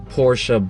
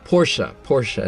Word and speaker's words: Porsche: I'm here sitting in a 2003 Porsche Boxster. Now I'm going to be very careful and of course say it like it should be said. Porsche, not Porsche.